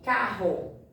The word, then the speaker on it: carro: Olha aqui, carro. Eles dois, RR, pronunciam um só som.